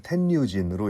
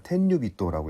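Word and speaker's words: 天竜人: 근데 한자 도금을 텐뉴진으로 읽을 거라 생각했는데 찾아보니까 텐뉴비또라고 읽더군요.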